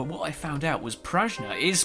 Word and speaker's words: Prajna: Now, what I found out was Prajna is pronounced Prajna, but what it means is intelligence.